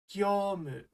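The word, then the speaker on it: ぎょうむ: You pronounce it gyomu.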